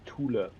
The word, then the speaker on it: Thule: I think in German it's pronounced Thule. Thule? Yeah. Okay, Thule. Thule. Now, there is no TH sound in German. There is no TH sound in German. Okay.